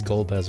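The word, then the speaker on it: Golbez: it's goddamn gold hopefully i'm pronouncing the name right it it was gold as right yes it's gold as okay just did some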